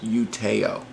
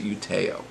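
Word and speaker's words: Utøya: wanted to say the island is you Te'o I believe is the way you pronounce it you Te'o and that's the island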